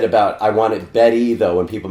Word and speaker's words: Bette: Said Betty Bet. I said like B Middler.